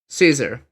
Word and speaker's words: Caesar: C A E S A R Caesar. Yeah, it's it's pronounced Caesar. I'm pretty sure that's the modern pronunciation. I'm pretty sure the original one was Kaisar.